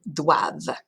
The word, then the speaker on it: doivent: And they must, ils, elles doivent. Again, that ENT is silent.